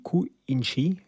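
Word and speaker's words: クインシー: hommage à Quincy Jones Quincy se dit cou inchi en japonais et le signe pour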